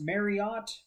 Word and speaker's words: Mariotte: the sand okay uh jeff i think is pronounced marriott marriott marriott um he's he's the